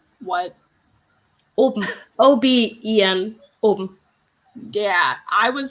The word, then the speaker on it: oben: Oben. What? Oben. O-B-E-N.